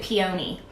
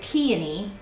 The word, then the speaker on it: peony: I said peony, and she started laughing and embarrassed me and told me that was not how you say it, and that you're supposed to pronounce it peony, which of course I didn't know.